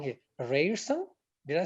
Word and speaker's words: Ryerson: He's also an instructor of Seneca College and, correct me if I'm wrong here, Ryerson? Did I say it right? Hamza? Almost there. Ryerson. Ryerson University. Rye like the beverage.